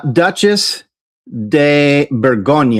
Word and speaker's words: Duchesse de Bourgogne: So, this is Duchess de Bourgogne. At least that's how I'm told it's pronounced.